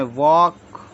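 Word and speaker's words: walk: बोलेंगे टॉक डब्लू ए एल के इसको बोले वक एफ ओ एल के फॉक फग नहीं है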